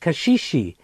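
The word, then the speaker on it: caxixi: in Brazil called Kashi spell see a xixi pronounced Kashi and they're used with an instrument called the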